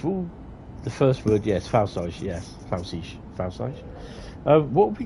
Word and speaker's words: Pfälzische: Pfälzische Ludwigsbahn. Pfälzische Ludwigsbahn. Mannheim Kaiserslautern route preview. It's silent P.